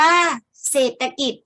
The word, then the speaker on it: เศรษฐกิจ: ลง ใน อาคาร สูง เศรษฐกิจ อ่าน ว่า เศรษฐกิจ หมาย ถึง งาน เกี่ยว